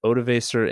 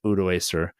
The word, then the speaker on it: Odoacer: You're not the emperor anymore," by then King, I've heard Odovacer and Odoacer as the pronunciations.